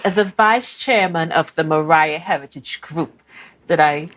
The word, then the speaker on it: Moriah: and she is the vice chairman of the Mariah Heritage group did I say it correctly yes